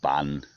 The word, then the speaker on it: Ban: Pretty much every village is called Ban something. or Bun, as the Thais would pronounce it.